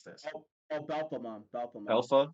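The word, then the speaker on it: Belphemon: Wait, how do I pronounce this? Oh, Belphamon. Belphamon. Alpha, Belfamon, Belfamon, Yeah.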